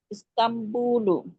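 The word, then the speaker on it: إسطنبول: যে উপরে একটা মিম আছে আর নুন আছে, কয়েক জায়গাতে এরকম দেখেছি শব্দগুলো, তাহলে কখন কোনটা উচ্চারণ করব? নুন কখন উচ্চারণ করব আর মিমটা কখন উচ্চারণ করব? নুন সাকিনের পরে যদি বা আসে তখন নুন সাকিনটা একটা মিম দিয়ে রিপ্লেস হয়ে যায়।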